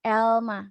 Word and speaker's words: elma: ini artinya apel Elma Elma pronounciationnya biasa ya Elma kayak Bahasa Indonesia biasa Elma ada yang ketinggalan